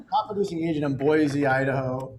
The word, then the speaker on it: Boise: says producing agent in boise idaho you say boise differently i'm gonna say boise you say it wrong c wow whatever there's no z in boys c uh christina has